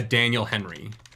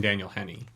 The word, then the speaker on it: Daniel Henney: and I was like there must be a Daniel Henry who's more famous than Daniel Henny there really isn't no